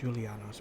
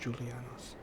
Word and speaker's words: Julianos: Yeah, the J's here pronounced like Y, like Jarl. So this is not pronounced Julianos, but it's pronounced Julianos.